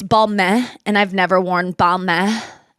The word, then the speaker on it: Balmain: Yeah, it was like this, it's balmain, and I've never worn balmain. I think you're supposed to say it like that, Balmain.